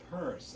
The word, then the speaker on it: Pierce: pictorial drawing room companion Samuel Stillman Pierce which would be pronounced purse after 1836 opened his